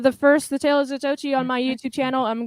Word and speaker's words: Zatoichi: That's actually Zatochi. Or how they pronounce I've been calling him Zato the whole time.